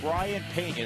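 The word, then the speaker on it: Brayan Peña: Brian Pena, that's how that name is pronounced.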